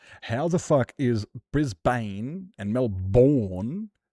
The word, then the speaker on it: Melbourne: Melbourne. Not Melbourne. Not Melbourne. Melbour just Melbour remove the vowels.